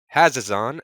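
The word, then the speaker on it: Hazezon: we have a straight commander cardigan this is hazazon shaper of sand did i say it right i would have definitely gone with haze on just to really extra things over but i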